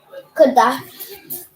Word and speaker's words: Qadash: How do you pronounce this word? Qadash.